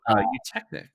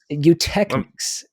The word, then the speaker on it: Eutechnyx: Oh, Eutechnyx. Eutechnyx. Let me just steal that thunder from you. Yeah. Yeah, Eutechnyx Limited. It's EUTECHNYX.